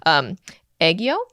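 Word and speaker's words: 애교: Okay, so sorry, I'm gonna butcher the saying of this, but aegyo.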